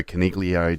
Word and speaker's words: Coniglio: that get Driven Crazy you don't pronounce the G in Leo what it's a silent G I normally call him